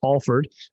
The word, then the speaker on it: Alford: a-l-f-o-r-d uh for people at home but it's pronounced alford um did you get that southern it's kind